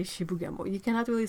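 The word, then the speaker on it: 渋谷: places like Shibu gamble yeah you gotta say Shibuya boy you cannot really say she began mu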